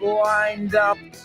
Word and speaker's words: lined up: What an amazing show we've got lined up. Fijaos cómo lo pronuncio, lined up. Cojo la D, lo uno con el up.